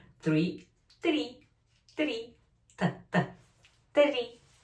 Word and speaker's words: три: Три. But remember R, rolling. R. Три.